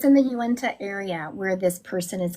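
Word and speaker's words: Uinta: Uenta is what I was hearing and I looked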